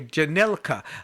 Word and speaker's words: Jhanilka: Jhanilka, right?